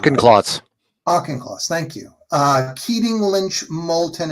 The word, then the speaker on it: Auchincloss: Um, Additionally, in Massachusetts, uh, Auchincloss, Auchincloss, I never seen it pronounce his name right. Auchincloss. Auchincloss, thank you.